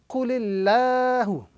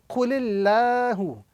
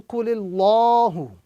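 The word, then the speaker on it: قُلِ اللَّهُ: Allah is a kasra, the word Allah itself would be pronounced with a flat sound. So we are going to be reciting this word, this formation, Qulillahu. Qulillahu, as opposed to Qulillahu.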